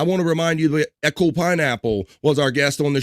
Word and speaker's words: Echo Pineapple: But please check out Echo Pineapple, and that's how you say it.